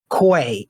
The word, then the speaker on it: Quay: it's a short documentary called koi it is spelled q-u-a-y and it's a short